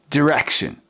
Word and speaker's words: direction: Direction. Direction. Not die, but direction.